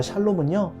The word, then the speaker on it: 샬롬: 이게 발음하기에 따라서 살롬 혹은 샬롬 이렇게 고백하는데요. 특별히 기드온이 고백했던 이 여호와 샬롬은요, 전쟁과 죽음 앞에서 그 두려움을 극복한 샬롬의 고백이었습니다.